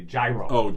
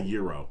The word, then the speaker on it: gyro: the word g-y-r-o many people say gyro i'm going to have a gyro it took me a few years oh no it's right it's a euro euro euro like oh oh i have a euro i'm in a fancy place well yeah some questions the guy next to me has a hot dog loaded up with chili and onions and some jalapenos so yeah euro that's how you say it um gouda gouda where